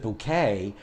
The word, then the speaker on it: Bucket: appearances is about hyacinth hyacinth bucket and her husband Richard and as she pronounces it bouquet and she's got two